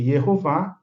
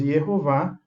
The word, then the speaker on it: Yehová: Nós temos Yehová, a pronúncia legítima dentro da língua hebraica, dentro da fonética hebraica.